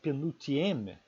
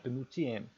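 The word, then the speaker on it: pénultième: vai dizer que a penultième, a palavra em francês penúltima, né, ela tem o acento da sílaba na penúltima sílaba, penultième.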